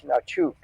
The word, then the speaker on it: Hnatiuk: The H is silent. Oh, it's silent.